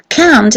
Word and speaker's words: can't: So can't is very often pronounced like I can do it. Normally can mean I can't do it. T is lost, right?